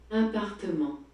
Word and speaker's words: appartement: Flat in French is appartement. Appartement. So there's 4 syllables just to say flat.